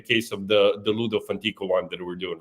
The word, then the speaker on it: Funtico: luno.comfantico and I would I thought it would be funico whatever. Yes. So I I don't know why I would have pronounced it that way but it's fantico.